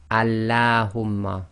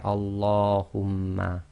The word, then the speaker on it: Allahumma: So Allahumma is one of the other cases apart from the name of Allah where the lam is not pronounced normally as taraqiq. So you can't say Allahumma, you say Allahumma.